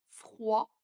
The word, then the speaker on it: froid: Par exemple l'adjectif froid. Le D à la fin ne se prononce pas ou le mot sport, on a envie de prononcer le T.